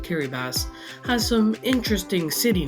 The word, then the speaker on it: Kiribati: The country of Kiribati, yes, it is pronounced Kiribati, has some interesting city names.